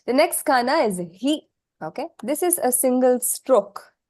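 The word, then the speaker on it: ひ: Yes, this is he. Okay. He. Hi. He. I don't really want to write HI because this in English is high, which is not how this is pronounced.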